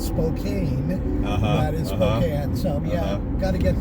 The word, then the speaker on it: Spokane: So, and before that we lived in Spokane, which is spelled Spokane, that is Spokane.